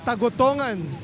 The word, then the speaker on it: Tagotongan: here's uh sabolo sports for correcting me so it's tagotongan and he is right